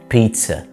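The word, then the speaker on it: pizza: بيتزا. مش بيتزا، اوكي؟ بيتزا. الزي بتتنطق تي اس هنا.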